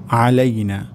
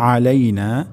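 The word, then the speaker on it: عَلَيْنَا: আসসালামু আলাইনা। প্রথম শব্দটি হবে আসসালামু আলাইনা। এখানে সিন আমাদেরকে সুস্পষ্ট করে বলতে হবে আসসালামু আলাইনা। আলাইনা এখানে আইন উচ্চারণ হবে।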